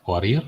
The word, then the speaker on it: Fourier: Sedangkan Fourier ditulisnya Fourier, dibacanya Fourier. Ini adalah transformasi dari domain waktu ke domain frekuensi atau frekuensi sudut omega dan fasa.